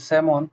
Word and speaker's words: salmon: Now we know the right pronunciation of salmon fish. It's called salmon.